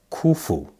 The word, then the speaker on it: Khufu: his name means now kufu k-h-u-f-u can also be spelled k-u-f-u because the h in the middle of k-h-u is silent so we're going to